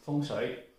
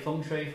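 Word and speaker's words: 風水: You don't need to be so particular about in Mandarin, it's called Feng Shui. And Cantonese, Feng Shui. And Chaozhou is Huang Zui. Okay? Or, Hakka, also different pronunciation. But that's all right. When you say Feng Shui, Feng Shui, Feng Shui, people understand.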